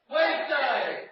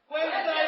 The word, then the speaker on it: Wednesday: Whereas in Yorkshire it'd be Wednesday. Wednesday. All right, we'll try to give it Wednesday then, eh? It ends in an I, not a day.